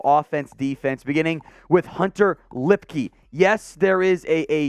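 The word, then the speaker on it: Luepke: player we'll go offense defense beginning with Hunter lipkey yes there is a a u in his name it is it is a trap it is pronounced lipkey out of North Dakota State a fullback three-time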